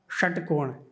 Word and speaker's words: षटकोण: तो जो षटकोण पै वाला स है उसको संस्कृत में तालव्य से बोला जाता है, षटकोण ऐसे बोला जाएगा।